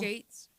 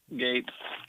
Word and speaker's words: Gaetz: Is that how you say it, Bill? Gates. Yeah, Gates. Gaetz.